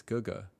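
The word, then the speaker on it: 哥哥: I just pronounced that GG this whole time. It's Guga.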